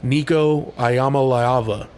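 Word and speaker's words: Iamaleava: a big game Tennessee's offense is nasty bro Nico ayama laava that's how you pronounce that guy's name we'll watch some of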